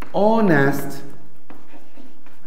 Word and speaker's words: honest: so an hour like honest man and the first letter is a and it's the consonant letter but it is silent when we pronounce the word and and its pronunciation